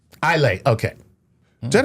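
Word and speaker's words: Eisele: What What's It's a word with S's in it and you don't pronounce any S's.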